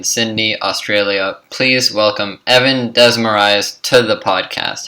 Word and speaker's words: Desmarais: Please welcome Evan Desmarais to the podcast. How are you doing today? Good, man. Oh no, Desmarais is the name. I know it comes across real Greek, but it's French.